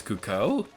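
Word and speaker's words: Cucco: comments but i know the official pronunciation is cuckoo i don't like that pronunciation so i'm going to keep calling them cuckoos all right uh where's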